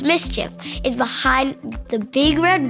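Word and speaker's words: MSCHF: Art Collective known as Ms CF pronounced mischief is behind the big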